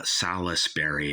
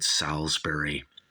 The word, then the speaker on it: Salisbury: album by Uriah Heap salsbery uh salesberry is spelled but we all call it salber now this version here